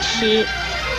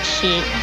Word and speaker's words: 吃: 吃的国语注音是吃一声吃，吃一声吃。